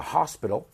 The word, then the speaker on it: hospital: went over to the hospital careful with the pronunciation it's Hospital and well the doctor took